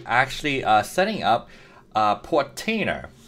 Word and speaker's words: Portainer: uh setting up a portainer it's like container but portainer um and as far